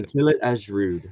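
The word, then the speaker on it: Kuntillet Ajrud: I always forget how to pronounce this. Which one? Kuntilit Ashrud. Okay, thank you. Kuntilit Ashrud.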